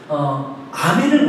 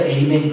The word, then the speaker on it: 아멘: 미국 사람들이 발음하는 거 보면 아멘을 못 하잖아요. 아멘을. 그래서 에이멘 그러잖아요. 간혹가다 한국교회에서도 잘난 척하고 에이멘 하시는 분들이 있어요. 히브리어 헬라어도 아멘입니다.